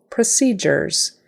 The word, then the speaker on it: procedures: can control procedures procedures emphasis is on the second syllable procedures so that first syllable